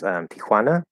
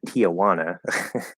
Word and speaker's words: Tijuana: the Border here is Tijuana or as as we Americans like to pronounce it Tijuana which sounds like yeah Juana and Juana um but I guess it would be Ant Aunt Joan in English um anyway uh yeah